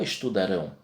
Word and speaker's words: estudarão: Só que muda a pronúncia também. Fica eles estudaram, não estudarão.